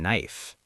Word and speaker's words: knife: Oh yeah, like the K in knife. Exactly. Knife, night, no, knock. The K is silent in all of those.